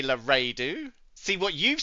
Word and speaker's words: Laredo: This says Lardo, right? Can you see that? Laredo. Sorry, Lardio. Is that better? Is that better for you? Sorry. Oh dear. Laredo. That doesn't say Laredo.